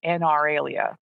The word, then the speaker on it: anauralia: A word for people who have no inner monologue is anaralia, ANAURALIA.